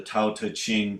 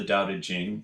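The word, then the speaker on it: Daodejing: um pronouncing the title so not the doubted Jing which is even the pronunciation of the T T and C romanization but the Tau teaching so that is you're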